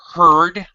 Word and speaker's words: heard: Heard. I just heard. Okay. I just heard. Heard and heard. Heard and heard. H-E-A-R-D and H-E-R-D are pronounced exactly the same.